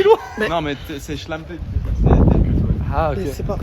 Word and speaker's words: Schlampe: Mais- Non, mais c'est schlampe.